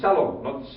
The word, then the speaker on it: Salom: Salom, of course, the famous family here, one of the famous family names is Salom, not Shalom.